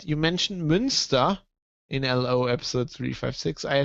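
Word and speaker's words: Münster: turin got me wrong i wasn't talking about munster with umlaut i was talking about munster which is spelled as the monster in ireland but it's months monster and lower saxony which uh i'll i'll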